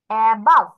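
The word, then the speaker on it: above: অ্যাবাভ, ভ উচ্চারণ করো অ্যাবাউট।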